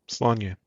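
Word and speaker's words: Sláine: How do I pronounce this again, Webhead? Slanye.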